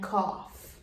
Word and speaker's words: cough: So again, when GH comes at the end of a word, it makes the same sound as the letter F. So when we see GH at the end of a word, we need to mark that word with a tiny F on top. So our words that we have on the board are laugh, enough, tough, and cough. The third sound of GH